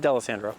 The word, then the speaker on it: Dalessandro: Dalessandro.